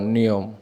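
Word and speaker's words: knee: পাশাপাশি KN এর উচ্চারণ নিয়ম। KN এর উচ্চারণ নিয়ম হলো, ওয়ার্ডের শুরুতে KN থাকলে কে উচ্চারিত হয় না, শুধু N এর উচ্চারণ হয়।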